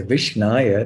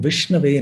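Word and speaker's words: विष्णवे: also I should say Vishnaya, that's wrong. So Dhiro vadati Vishnave. So Dhira means the learned person pronounces correctly and he says Om Vishnave Namaha, not Om Vishnaya Namaha.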